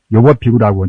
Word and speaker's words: 요법비구: 불경 보면은 요법피구라고 좋아할 요자, 즐거울 약자를 이제 좋아할 요걸 때는 요라고 발음하지 않습니까?